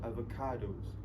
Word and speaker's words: avocados: e o so and in both of this um the word avocados they they put the stress in the third syllables so avocados avocados avocados avocados okay